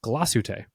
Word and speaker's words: Glashütte: I was corrected on my pronunciation of Glashütte. Really? Glashütte recently. I was corrected. It's Glashütte.